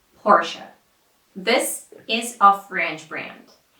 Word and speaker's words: Porsche: so the right way to say this is Portia Portia this is a French brand and the original French pronunciation sounds something like this Seaton Seaton sequin